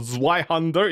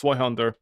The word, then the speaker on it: Zweihander: Also, it's not Zweihander, it's Zweihander. You just pronounce it normally, you don't need to emphasize the Z!